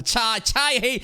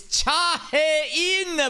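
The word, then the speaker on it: Cha Hae-in: Bro still ain't even fucking pronouncing her name right at the end of season 2. You got like 6 separate adjectives going on. You still fucking disrespect her with the Chai Hey. It's Cha-Hye-in, but I'm sure he's trolling.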